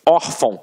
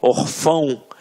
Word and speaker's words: órfão: Até mesmo porque se fosse um acento, a gente não ia falar órfão. A gente ia falar o quê? Orfão. E não é o caso. Então aqui, reparem que a sílaba tônica está na penúltima sílaba. Por isso é uma paroxítona. E é uma paroxítona terminada em ditongo.